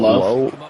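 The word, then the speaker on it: Loe: and for me as a fan when I'm watching they have a guy named it's spelled L O E pronounc his name low low and low and low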